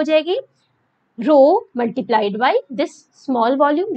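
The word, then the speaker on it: rho: Physical quantity आती है, क्या क्या बोलते हैं, रो, क्या वो कैसे इसको प्रोनाउंस करते हैं बच्चे, रो से, और ये होती है volume charge density, volume charge density.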